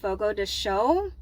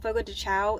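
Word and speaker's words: Fogo de Chão: night dinner was at Fogo the show I think that's how you pronounce it because it's a Brazilian steakhous I used to call it Fogo dechow and somebody looked at me like I was absolutely crazy um so I'm just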